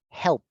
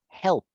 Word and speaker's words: helped: Entonces, cuando yo vuelva a pronunciar este ayudar en pasado, lo voy a pronunciar con una T. Entonces, en este caso, la pronunciación de esta palabra sería helped, helped, Help, helped.